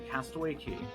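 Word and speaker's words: Castaway Cay: would have been day three we docked a castaway key spelled k pronounced k disney's private bahamian island it's a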